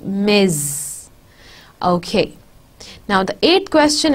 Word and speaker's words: Ms: the person is married it is pronounced miz okay now the eighth